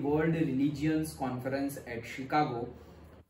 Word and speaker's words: शिकागो: कई लोग शिकागो को चिकागो भी प्रोनाउंस करते हैं, पहले ये गलत था। जब मैं तुम्हारे जितना था तब हम इसको अगर चिकागो प्रोनाउंस करें तो वो गलत था, आज गलत नहीं है। तो आज शिकागो भी प्रोनाउंस करते हैं ज्यादातर लोग, लेकिन कई लोग चिकागो भी प्रोनाउंस करते हैं जिसको गलत नहीं कहा जाता।